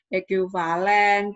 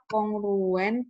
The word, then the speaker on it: kongruen: Jadi ini bacanya bukan ekuivalen, bukan berbandingan atau apa, tapi dibaca A kongruen. A kongruen dengan B modulo H.